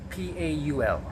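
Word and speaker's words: pall: name paul is spelled p-a-u-l but this one has the same pronunciation but it's p-a-l-l paul now what does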